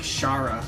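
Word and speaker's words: Chara: You say it like Shara.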